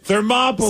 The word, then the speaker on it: Thermopylae: Yeah, the pronunciation was the Battle of Thermopylae. Thermopylae. So it rhymes with Monopoly.